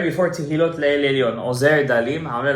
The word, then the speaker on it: תהילות: Not Tehilat Le'el Elyon, but Tehilot.